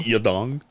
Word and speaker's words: Yadong: Your dong. That is how you say it.